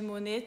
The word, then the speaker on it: Monet: É lindo, aquele quadro das ninféias de Monet tá lá. E no sobrenome do Monet tem um T e esse T fica mudo. Essa regra dos T's mudos varia muito quando é sobrenome.